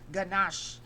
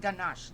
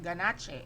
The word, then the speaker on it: ganache: Next is the chocolate ganache. Ayan. It pronounced ganache, not ganache. It's ganache.